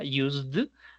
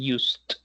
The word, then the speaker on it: used: Sí, lo más probable es que le haya salido la terminación en d de dedo, o sea, used, pero no es no es correcta. Listo. Si si le salió, sí, si no le salió, genial. Pero la pronunciación sería used.